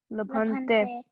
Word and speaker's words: लभन्ते: Labhante.